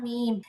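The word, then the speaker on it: ميم: বা মিম, এর মধ্যে মিম উচ্চারণ হয় দুই ঠোঁটের শুকনো জায়গা থেকে। আচ্ছা, তাহলে মিম যখন উচ্চারণ করবো তখন দুইটা ঠোঁট আমাদেরকে মিলাতে হবে, নর্মালি মিলালে হবে না, এই শুকনো জায়গাটাই মিলাতে হবে, উচ্চারণটা বোঝা যায়, হ্যাঁ, একটু ডিফারেন্ট হয়।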